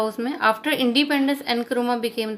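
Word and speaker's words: Nkrumah: क्वामे एनक्रुमा, pronounced एनक्रुमा, सन of student.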